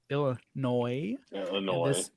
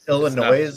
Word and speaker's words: Illinois: Illinois. No, it's noise. They spell it with the Nois. No, it's only My one. Discuss this Illinois and It's not plural. It's only one.